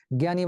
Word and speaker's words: জ্ঞানী: এই যে দেখো, জ্ঞানী, জ্ঞানী বানানে দীর্ঘই ছিল, কিন্তু উচ্চারণে সেটা রস্বই হয়ে গেল।